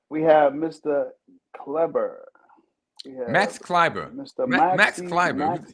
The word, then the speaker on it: Kleber: Where you get an I from with an E? It's just the way they pronounce it. Kleber. Okay. But that's what he calls himself. I mean, He's a long E or a short E? Which one are we doing there? School teacher? They're giving him an I. I'm just asking. Ain't no I in there.